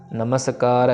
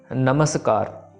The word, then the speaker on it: नमस्कार: सो मैंने वही लिखा हुआ है कि यहाँ पे कि मेक श्योर टू प्रोनाउंस मम्मा इन नमस्कार कम्प्लीटली, क्योंकि मम्मे को अगर